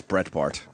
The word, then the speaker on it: Breitbart: What time is Brett Bart coming? Abart I believe I believe nine. I think it's Brett Bart. Yeah, I think you're right actually.